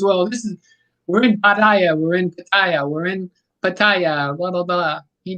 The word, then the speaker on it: Pattaya: everything left and right next to go will be pattaya i'll start saying like patia or something and i'll lose